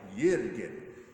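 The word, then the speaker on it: Jürgen: of official about it you have to pronounce the theologians name in their native tongue so I think year to get even though it looks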